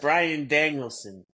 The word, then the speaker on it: Bryan Danielson: Because that's why the guy said something to you because we kept saying his name wrong. Moxley? No, is it Daniel Bryanson or is it? It's Yes. Bryan Danielson, right?